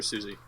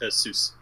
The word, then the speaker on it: Seuss: Seuss or Susie? Seuss. How do you pronounce that? Seuss, right? Yeah. There's no I, so it's Seuss.